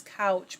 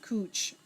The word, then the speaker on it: Couch: bizarrely in portland oregon one train stop is couch but it is pronounced cooch and it made me